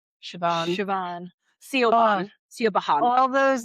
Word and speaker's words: Siobhan: Siobhan, I know how to at least pronounce. Siobhan.